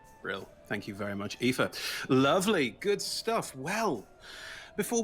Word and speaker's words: Aoife: And Aoife. Yes, Awesome. That's how you pronounce that name. Yes, it is. Well done. I am Aoife.